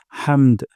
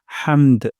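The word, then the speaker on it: حَمْد: সাউন্ডটা নিচের দিকে যাবে হামদ হামদ আর হা উচ্চারণ করবো গলার মাঝখান থেকে হামদ রব্বানা ওয়ালাকাল হামদ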